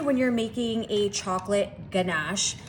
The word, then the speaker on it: ganache: Now, normally when you're making a chocolate ganache, hard G, right? So if I pronounced it wrong before, what a silly word. I don't know why you pronounced the G.